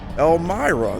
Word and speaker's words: Elmira: we're in Elm elmirer e-l-m-i-r-a how do you pronounce that El Mari Maria Elmira Elmira there we go Elmira we're just gonna go